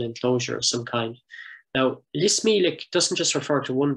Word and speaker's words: Lis Mílic: I've recorded the pronunciation from him directly, so it's Lis Mílic, as it would be in Irish.